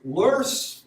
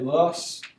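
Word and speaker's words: loess: So lurse, I've heard people say lus, which to me it looks like lus, and I've heard people say lurse. I guess it's a German word, but it's a deposit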